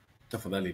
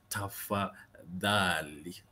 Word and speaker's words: tafadhali: And the word is tafadhali. Tafadhali. With your tongue between your teeth when you're saying dali. Dali. Tongue between your teeth. Dali. Tafadhali. Okay. Notice that there's a difference between tafadhali and tafadhali.